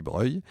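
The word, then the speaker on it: Broglie: le duc de Breuil alors ça s'écrit Brogel hein mais ça se dit Breuil si le duc d'Omal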